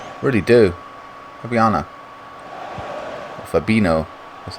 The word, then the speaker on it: Fabinho: their ideas man i really do ariana fabino that's how you pronounce his name arnold now coming forward dodgy's